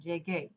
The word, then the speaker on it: llegué: Right here, if you put G-E and then left out this U, it would say yeje because G before E is a soft G sound or an H sound from English. Okay, so if you add the U, it allows you to make that hard G sound, llegué.